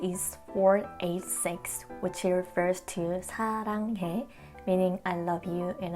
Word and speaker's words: 사: The last number 4 means the verb love, 사랑하다 in Korean, because 4 in Korean is pronounced 사.